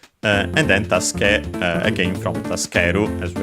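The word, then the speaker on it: 助け: Tasuke on its own, yes, accented on the last syllable, luckily, as per the rule, since the verb is accented.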